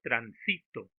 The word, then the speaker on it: transito: Por ejemplo, transito. Vean ustedes que ha variado. La mayor fuerza de voz está en la sílaba sí, en la penúltima sílaba.